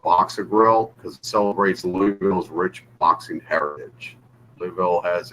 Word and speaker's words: Louisville: this label uh it's from Louisville Kentucky or louville some people pronounce it right and yeah this is